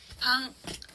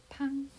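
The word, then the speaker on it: パン: 파가 들어가는 일본어 단어는요, 방, 발음이 비슷하죠? 빵이라는 뜻입니다. 같이 읽어볼게요. 방, 팡, 방.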